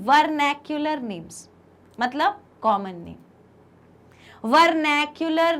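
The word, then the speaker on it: vernacular: एक को हम बोलते हैं, ध्यान से सुनना प्रोनाउंसिएशन, एक को हम बोलते हैं वर्नैक्युलर नेम्स, मतलब कॉमन नेम।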